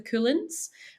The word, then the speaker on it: Cuillins: in front of the Cuillins, which is our mountain range, which is spelled Cuillins. So it also just sounds like the word cool, which I love.